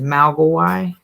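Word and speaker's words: 魔怪: The Mandarin pronunciation is Mogwai.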